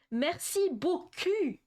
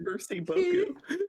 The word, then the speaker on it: Merci beaucoup: Merci beaucoup. So literally, let me do a translation. Mercy Boku means ass in French, okay? Merci beaucoup. He literally said, thank you, pretty ass.